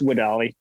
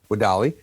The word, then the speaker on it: WEDALI: Yeah, it's pronounced WEDALI. WEDALI.